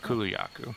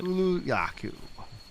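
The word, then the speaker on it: Kulu-Ya-Ku: tracking of that animal gotcha um so it's pronounced open the map and lock yaku yeah Kulu yaku that's it Kulu yaku and $100 from a TOS is steal yeah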